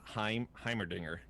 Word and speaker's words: Heimerdinger: all right uh chad is saying that it's pronounced heimerdinger and then it looks like two people in